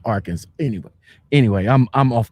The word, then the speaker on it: Arkansas: city kansas and then our kansas which is pronounced arkansas anyway anyway i'm i'm off the beaten path